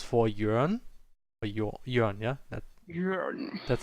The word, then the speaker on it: Joern: Joern. That's how we decide to pronounce him, right?